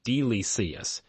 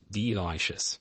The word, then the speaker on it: delicious: He said delicious, but he pronounced it as delicious too slowly and with wrong stress. The listener heard delicious. They smiled but did not understand. Emmer laughed. Now he practices delicious, stressing the second syllable.